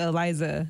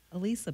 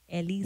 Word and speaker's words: Elisa: Speaking of Eliza, because I feel like you pronounce it Eliza. No, do they really spell it with a Z? Eliza, yeah. Oh, no, that's Eliza. Elisa, people. Elisa.